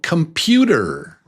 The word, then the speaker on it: computer: Computer, computer, computer. How many beats is that? And what is the strong syllable? Computer, computer. Did you say 2? Yeah, number 2 is the strong syllable.